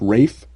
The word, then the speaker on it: Ralph: It's like, okay, but if Voldemort can say that Ralph is pronounced Rafe, then John Constantine can say that it's pronounced Constantine, and that's what it's goddamn pronounced as.